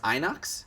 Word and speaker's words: Inox: I'm playing an uh is it pronounced Inox yes I'm playing an Inox Bruiser uh the Inox